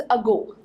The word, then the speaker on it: ago: अगला जो वर्ड है that is अगो। अगो word की स्पेलिंग है AGO और बहुत सारे बच्चे इसकी प्रोनाउंसिएशन को ईगो बोलते हैं। दिस इज अगो, इसका मतलब होता है पहले।